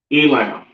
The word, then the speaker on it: Elam: Elam, all right, which is the so-called East Indians, all right? and this is pronounced Ayalam. So like this last word. Salakia. Elam or Ayalam and the Lasahawan Qadash.